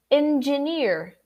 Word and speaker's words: engineer: follow so then engineer it's not a and it's not e it's in engineer all right that very subtle in the middle there so repeat with me